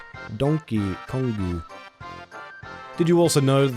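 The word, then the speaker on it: ドンキーコング: a bootleg version of how Donkey Kong is pronounced in Japanese. Donkey Kongu.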